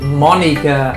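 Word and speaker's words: Monika: Her name is pronounced like Monica.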